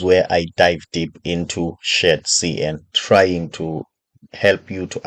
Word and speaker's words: shadcn: most people they confused um they always uh pronounce Shar CN as Shar CDN okay it's a common mistake um for me